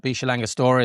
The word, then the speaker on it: Villa La Angostura: Obviously, we were in Villa La Angostura as the as it looks on the on the pages, but Villa Angostura is how they they pronounce it locally or close to that.